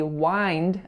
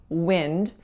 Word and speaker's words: wind: they might be wind however in this case in this particular passage he was using the word as a noun in which case we don't say wind as I said when I was reading it earlier we should say wind with that lacks a sound alright you guys so